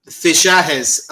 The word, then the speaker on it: Fichajes: According to a recent report from, and I'm going to struggle saying this, Fijajes. I think that's how you say it, Fijajes. Fichajes, like in Spanish, the J is pronounced H.